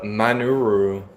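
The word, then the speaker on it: マヌル: But uh according to this, yes, the manuru is how they say it in Japan.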